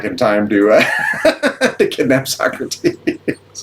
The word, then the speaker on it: Socrates: And they they call them Sorrates because they don't know how to pronounce Socrates. Sorrates. So yeah, that's part of the movie is they go back in time to to kidnap Socrates.